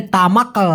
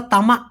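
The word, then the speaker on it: tamak: তবে তামাক এভাবে কটা না বলে ওরা তামাক বলে। ক টাকে হ্যাক করে একটা ধাক্কা দেয়।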